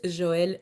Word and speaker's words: Joëlle: job in at saying my name so it's Joel de um my last name is actually like